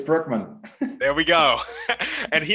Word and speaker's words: Brueckmann: we have alex and alex is going to pronounce his last name for us what is it for us it's brookman there we go and he is an entrepreneur